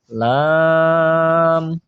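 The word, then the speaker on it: ل: কফ, ক, ক, কফ, কফ, calf, calf, calf, লাম, লাম। 8 নম্বর মাখরাজ লাম, জিহ্বার আগার কিনারা সামনের উপরে দাঁতের মাড়ির সঙ্গে লাগাইয়া লাম, একদম সহজ, লাম, মিম, মিম,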